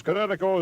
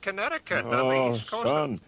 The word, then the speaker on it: Kinetico: I thought the instructor said Connecticut. You should have remembered kinetic as in kinetic energy with an O on the end.